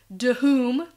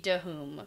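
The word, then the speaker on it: Dhoom: So they can see the mountains of Dahoom in the distance. I'm just joking. I know it's Doom. Yeah, that's okay. You can do that. You like Dahoom? Dahoom, yeah. You have to pronounce the H.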